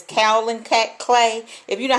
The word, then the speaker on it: kaolin: night you know you probably should I can't pronounce it it's kaolin cat clay if you know how to pronounce